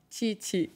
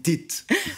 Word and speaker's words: Tite: Vous nous prononcez le nom de l'entraîneur brésilien? Tite. Nous, on dit Tite.